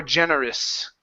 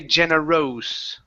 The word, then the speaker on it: generous: even a schwa saying us ok generous or generous ok we don't want to say Jenna Rose ok it's generous generous there you go one